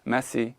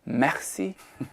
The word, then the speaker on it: merci: would've said something like, "Merci" like that. And he goes, "Daddy." And I was like, "What?? He goes, "It's not merci. It's merci."